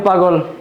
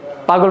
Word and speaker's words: পাগল: আমি আরেকবার বলতেছি পাগল শব্দের মাঝখানে যে গ আছে ব্যঞ্জনে যুক্ত সেখানে একটা অ থাকার কারণে পূর্ববর্তী আ এর ফলে মাঝখানের অ এর উচ্চারণ ও এর মত হবে।